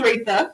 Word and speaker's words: Reathia: your name right because i know we say rita it is rita and i when i look at it isn't like right there it's pronounced different than this spell okay that's all